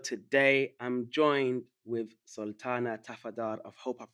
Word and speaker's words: Tafadar: I'm joined with Sultana Tafadar. I hope I pronounced your surname correctly.